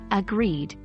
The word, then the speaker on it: agreed: Even though we aren't diving deep into phonetics today, remember to stress the second syllable when saying agreed.